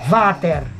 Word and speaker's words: Vader: en inglés Dark oscuridad la palabra va a haber está leyda en inglés pero se debería pronunciar váter que significa que significa